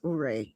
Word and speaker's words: Ouray: It's pronounced Ore. Josh said it's not, even though it's spelled Ouray, but apparently the locals say I think it's Ure, not Ore.